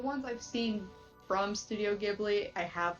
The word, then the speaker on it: Ghibli: you say it yeah Ghibli is how I say it yeah Spirited Away an